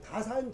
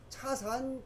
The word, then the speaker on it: 다산: 왜냐 우리 옥편에 차 다짜요. 차다 예돈네. 그래서 다래라가 요게 맞아. 근데 중국 발음이 차니까 지금 차례라고 하고 우리는 다산 정약용 선생이거든. 근데 차산 정약용 선생이에요.